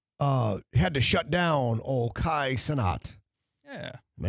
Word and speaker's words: Kai Cenat: Kai Cenat. Simple. Kai Cenat.